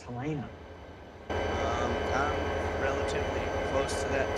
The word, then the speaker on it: Helena: you're beating that 1996 turtle that's departing walking Helena beside you. yeah, just. Okay, Progress. question for everyone. Why do you say Helena? It's Helena.